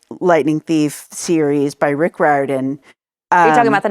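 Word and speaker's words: Riordan: Percy Jackson light Lightning Thief series by Rick Ren um you're talking about the novels right yes and um I did look up that's how it's pronounced Ren anyway um I used to read those to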